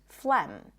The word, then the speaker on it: phlegm: The G is not pronounced in many words that represent a vowel like thought and taught, but it's also not pronounced in the word phlegm.